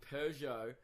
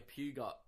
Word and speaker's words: Peugeot: this driving a Pew got silent G everyone silent G silent T you